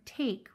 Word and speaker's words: take: name, which is why in the word take, we hear t-a-k. Remember that when we're working with magic E, we do not hear any sound from the E.